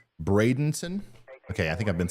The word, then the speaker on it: Bradenton: as it moves forward see uh some more pronunciations Bradenton okay I think I've been saying Brandon sorry brenon Sebring and kissm kiss CMI um